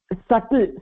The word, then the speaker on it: subtle: Subtle. Subtle. That B is silent.